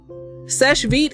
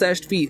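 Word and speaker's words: Sèche Vite: not because right because the actual french pronunciation is not meat seche vite is pronounced seshed feet like they had a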